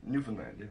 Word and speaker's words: Newfoundland: heard recently somebody said it's like understand muffin land I understand stupidly Newfoundland it it's right relax